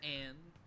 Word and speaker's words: Ann: it on perfect because it would be pronounced on by japanese people that's true but it's ann don't critical me what